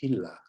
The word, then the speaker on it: Gila: forth The Gila River it's spelled j no g-i-l-a hila like that I guess it should